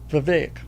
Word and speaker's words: Vivek: It's Vivek.